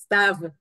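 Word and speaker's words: סתיו: Stav.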